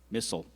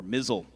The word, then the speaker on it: missile: Missile. It could also be pronounced missile or mizzle.